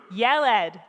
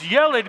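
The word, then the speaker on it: ילד: say boy in hebrew yelled what does yelid mean in english boy and how do we remember that i yelled at the boy i yelled at my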